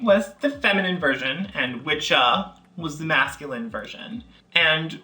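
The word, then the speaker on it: wicca: It stems from two Old English words, which were witche and witcha. We're almost 100% certain about that pronunciation. Witche, witcha. You know, like witcha.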